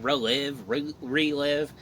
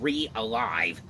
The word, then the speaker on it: REALIVE: I remember I was always saying relive, but I know how you say it now.